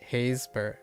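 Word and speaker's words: Happisburgh: You don't pronounce the P. Oh, so Hapsburg. So it's pronounced more like Hazeburg.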